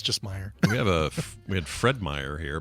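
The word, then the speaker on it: Meijer: Oh, just Meyer, the J silent? Meyer. Yeah, the J is silent.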